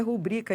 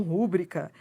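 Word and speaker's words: rubrica: muito importante ó pública o certo é rubrico e não rubrika pública recorde Essa é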